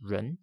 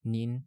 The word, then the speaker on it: 人: For pronunciation, the Middle Chinese ancestor of most modern pronunciations was ren. This becomes ren in Chinese, nin and jin in Japanese, and in Korean.